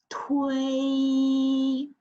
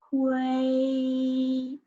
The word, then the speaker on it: 推: The second one is 推. It's a first tone. 推. Okay, when you pronounce, because it's a T initial, you have to burst out the air.